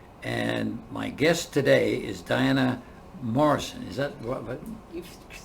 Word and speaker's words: Diana Mohrsen: Burnaby British Columbia and my guest today is Diana Morrison is that what you've pronounced it correctly thanks thank you a few